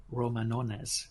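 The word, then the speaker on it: Romanones: a guy called count Roman honest which is very hard to pronounce the English its Roman and then once basically if you want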